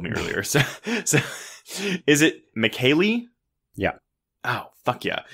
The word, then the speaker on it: Michele: So is it Michele? Yeah. Oh, fuck yeah. It's spelled like Michelle. It's Michele either Soavi, like Rico Soavi, but like Italian, or Soavi. I think Soavi. Yeah, sure. So Michele Soavi.